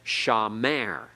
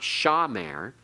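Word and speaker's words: שָׁמַר: syllable of the word so a word like shamer we Accent on the last syllable it's not accented on the first it's not shamer everyone say that together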